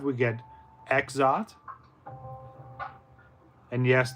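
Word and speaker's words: Exdeath: Final Fantasy 5, we get Exot. And yes, this is the one time you're going to pronounce the X there.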